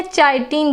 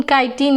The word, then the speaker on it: काइटिन: बहुत बच्चे प्रोनाउंसिएट नहीं कर पाते हैं, बोलते हैं चाइटिन, काइटिन। हाँ, तो ये काइटिन है, चाइटिन नहीं है, ठीक है।